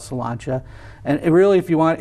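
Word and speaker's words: Sláinte: name of that place it's called solanta but it's spelled like slain s l a i n t but it's it's an Irish pub called salanta and really if you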